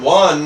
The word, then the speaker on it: one: A one-man operation All right well a one, one actually has more of a W sound, W is a consonant sound , so we use ' a ' we don't say an one man.